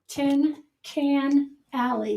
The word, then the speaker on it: Tin Can Alley: place it's uh i i always say it wrong vicky what is it it's tin tin can alley it's tin can alley